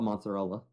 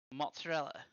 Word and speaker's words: mozzarella: How do I spell mozzarella? Mozzarella. Yes. You're saying it the American way, you Philistine.